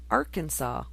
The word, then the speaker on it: Arkansas: Okay, in Arkansas, it is illegal to mispronounce Arkansas.